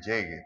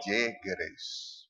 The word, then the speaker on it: Yegres: meu nome, Sí, porque él dice llegue, pero es meu realmente sobrenome. Yegres.